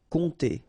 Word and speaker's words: compter: Remember pronounce here and then together produce the nasal on compter compter regarder vers regarder vers